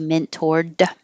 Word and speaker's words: mentored: an or mentored and i'm not going to say the d mentored i'm just going to hold my tongue in the d position mentored but my whole